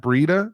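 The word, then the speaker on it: Breida: Is it Breda or it's Breda, right? Matt Breda. Is that how you pronounce his name? Will exceed last year's rushing total in one game. Is that how you say it? Because like I said, a lot of people get mad at me for pronouncing names wrong. Yes, it's Breda.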